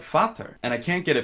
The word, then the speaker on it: vader: Dutch word for father, but it's not pronounced anything like that. It's pronounced more like Vater, and I can't get